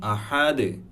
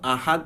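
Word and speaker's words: أحد: হুয়াল্লাহু আহাদ, আহাদ বলি, কিন্তু এটার সঠিক উচ্চারণ যখন আমি কলকলা সহ পড়ব, কুল হুয়াল্লাহু আহাদে, আহাদে, দালের যে এখানে দালে যদি আমরা দেখি তাহলে এখানে কি আছে, দালের উপর দুইটা পেশ আছে।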